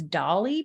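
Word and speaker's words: DALL-E: So some of the websites she recommended, Canva has an AI feature, Jasper, Jasper, Dalle. I think it's Dolly pronounced.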